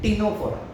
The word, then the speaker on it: Ctenophora: तीसरा फाइलम होता है टिनोफोरा, उसमें हमें सी को प्रोनाउंस नहीं करना होता है, सी को हमें प्रोनाउंस नहीं करना होता है, ये होता है टिनोफोरा, लेकिन सी लिखते हैं उसे, सी साइलेंट होता है।